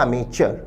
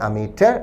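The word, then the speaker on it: amateur: उच्चारण है एक तो अमेट और दूसरा अमे च आपको जो अच्छा लगे अमेट अथवा अमे च ज्यादा लोग लोकप्रिय है अमिटर अंतरराष्ट्रीय रूप से भारत में अमिचर अमिटर या अमिचर वह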